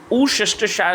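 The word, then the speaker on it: Worcestershire: Pronunciation अच्छे से सुन लीजिएगा, ऊसेस्टरशायर सॉस, और इसको एलपी सॉस के नाम पे भी जाना जाता है।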